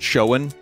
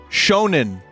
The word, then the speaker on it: Shonen: after I am done later is it not pronounced Shen it's $3 on TCG player Oh sick oh oh man I can buy myself a Dunkin Donut reread it Vin okay it is Shonen oh it's Shonen Jump Tales from the Crypt